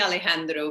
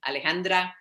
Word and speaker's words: Alejandra: is it's alejandro sometimes people call me alejandro because they they it is confusing the name